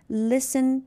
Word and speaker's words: listen: wrong W is silent listen T is silent half L is silent